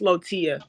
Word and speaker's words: Latoya: And it's pronounced Lotia.